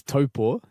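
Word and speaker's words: Taupō: So you're from, is it Taupo? Have I pronounced that correctly? Close. It was pretty good. I lived there. It's Taupo, and I lived there for about 4 years.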